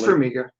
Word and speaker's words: Farmiga: It's Farmiga. Farmiga. Oh, I pronounced it right.